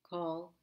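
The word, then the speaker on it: כל: Kol means all, each, or every. It is always pronounced with the O sound regardless of the vowel.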